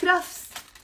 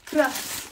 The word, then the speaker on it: كرفس: Now, هيدا celery بلبنان, in the Lebanese accent, we pronounce it كرفس. كرفس, okay? كرفس.